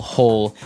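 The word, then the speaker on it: hoe: make maybe a small hole in the ground you would use a spade and now our last tool has a Kind of a Funny spelling it's h o e and it's pronounced ho ho so again this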